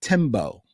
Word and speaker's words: Tembo: We received an email from Tembo. Hey? Hey. Tembo, T-E-M-B-O. Okay. So hopefully I am pronouncing that correctly.